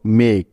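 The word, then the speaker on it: make: নিতে হবে ক এবং সবশেষে ই ভাওয়াল আছে তাই এর কোনো উচ্চারণ হবে না সুতরাং ম যোগ একার যোগ ক মিলে হলো মেক মেক মানে তৈরি করা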